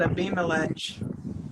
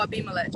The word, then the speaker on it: Abimelech: Oh, well, yesterday I said a Beamelech. Oh, Abimelech. Okay, let's go with Abimelech. That sounds better. At the time, Abimelech in Fecal, the commander of his army, Ew.